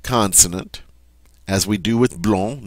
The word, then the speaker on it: blond: as we do with blong, notice I don't pronounce the d in the masculine.